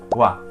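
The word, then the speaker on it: は: función gramatical tenemos como primera partícula la partícula waa que esto aunque se escribe con el carácter gir gana de ha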